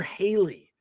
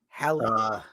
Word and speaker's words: Halle: Halle or Haley? Halle.